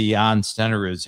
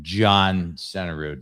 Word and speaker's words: Jan Stenerud: I've been to Jan Stenerud's house, and shame on you for pronouncing his name John Stenerud, man.